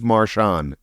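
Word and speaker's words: Marchion: Marshon, spelled the same way.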